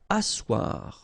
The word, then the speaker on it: asseoir: Asseoir. Okay, remember you've got this beautiful but then phonetically doesn't exist. Asseoir. Remember double S here, it's really strong s, really strong S.